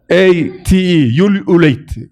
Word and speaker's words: ululate: U-L-U-L-A-T-E, ululate. It's pronounced like ululate.